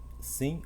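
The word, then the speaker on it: שׂ: Shin, Sim ou Shin. Essa letra ela leva um ponto. Se o ponto se o ponto for do lado esquerdo, é Sim. Se o ponto for do lado direito, será Shin.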